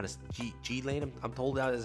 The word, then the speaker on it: Ghislaine: You have Ghislaine also, or G-Lane. I don't know how to G-Lane.